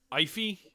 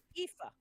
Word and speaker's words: Aoife: Alright, Ify? Is that how you pronounce it? I want to make No. sure. Ifa. Aoife, sorry.